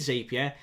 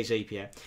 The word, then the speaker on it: Zapier: to pay for Zapier, depending on how you want to pronounce it. I say Zapier.